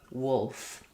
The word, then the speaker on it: wolf: We don't make a strong L there, not wolf with a strong L, but it is there.